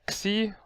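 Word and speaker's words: Ⲝ: It's called Xi, also simple, just called Xi. And it's pronounced as an X, just X. You don't see, it's not XC, it's just X. KS, just a KS.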